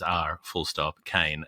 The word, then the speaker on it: Brian R. Kane: To pronounce that for you, that's not arcane like the word. It is R full stop Kane, Caine, like Michael.